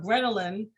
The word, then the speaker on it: ghrelin: It's called, my gosh, now I forgot, Ghrelin.